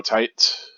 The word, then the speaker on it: Tite: By the way, I pronounced the name Kubo Tight.